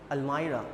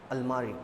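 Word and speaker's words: almirah: हिंदी में होती है, एंड the English pronunciation is अलमाइरा, नॉट अलमारी, ओके।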